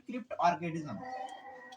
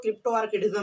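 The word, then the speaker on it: cryptorchidism: क्रिप्ट ऑर्किडिज्म, जिसको कुछ लोग क्रिप्टो ऑर्किडिज्म भी बोलते हैं। ध्यान देना, क्रिप्टो ऑर्किडिज्म सबसे अच्छा प्रोनाउंसिएशन इसका होता है क्रिप्ट ऑर्किडिज्म।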